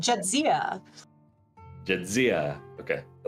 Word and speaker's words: Jadzia: Playing a name that I'm going to try to pronounce. Jadzia Gracegiver. I think I got that. You were close. It's right. Jadzia.